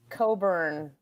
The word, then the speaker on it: Cockburn: need is a is a Coburn which is spelled cockburn all right in 2004